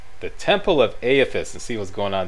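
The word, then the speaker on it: Eothas: to the temple of i learned how to pronounce this now aethis the temple of afis and see what's going on down there during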